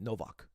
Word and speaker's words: Nowak: serial killer named Jack Nowak I should I should pronounce it in a Polish right Novak Novak I'll make I'll make